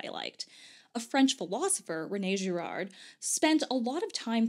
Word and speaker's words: René Girard: Girard, and I know the proper French pronunciation is something like René Girard, but I am god-awful